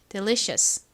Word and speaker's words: delicious: 자, IOUS는 이어스 소리가 나는데 Cous는 덩어리로 소리가 납니다. 발음 같이 해 볼게요. delicious.